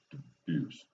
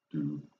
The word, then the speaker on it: Dubus: You pronounce my name Dubus. So, Dubus. It rhymes with abuse.